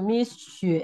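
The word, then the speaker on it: 蜜雪: Jadi harus sedikit gitu, Misu gitu. Harus agak monyong dikit.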